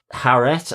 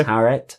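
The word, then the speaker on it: Taweret: um it was uh haret I don't know whether I'm pronouncing right it's t a w a r e t but it's given with a h h sound so it's haret very um and uh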